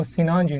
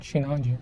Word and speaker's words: Sinanju: Oh, Sinanju, not Shinanju. Sinanju.